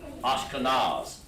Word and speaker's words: Ashkenaz: Ashkenaz. They pronounce it Ashkenaz.